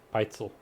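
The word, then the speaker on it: Pitezel: We decided the pronunciation it was yeah, Peitzel.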